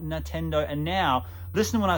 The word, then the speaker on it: Nintendo: like an absolute peanut I'm saying Nintendo instead of Nintendo at first I was like oh you know don't be a buzz kill ease up I don't mean to say it wrong but then you know what I'm like no it's called Nintendo not Nintendo and now listen when